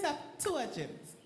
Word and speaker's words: Septuagint: Septuagint. Septuagint. All right. Septuagint. Gent. Gent. Yes, gent. Septuagint. Septuagint. Very good.